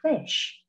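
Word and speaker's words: ghoti: then the word g-h-o-t-i is pronounced just like fish welcome to the English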